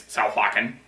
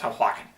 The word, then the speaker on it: Sahuagin: That is actually how you pronounce it, honestly. It is Sahuagin. I know it's not spelled that way. I don't know why it's pronounced that way, but it's pronounced Sahuagin.